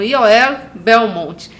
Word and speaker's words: Yoel Belmont: Mas agora já vou chamar para conversar com a gente Yoel Belmonte. Será que eu falei certo? Falou. Porque é a origem hebraica, né? A pronúncia hebraica. É. Então, Yoel Belmonte.